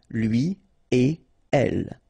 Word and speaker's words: lui et elle: Don't think about producing something like lui et elle. No, no, no, nothing here. Lui et elle.